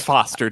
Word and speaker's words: Foster: It's Foster. Don't Tom Forster her.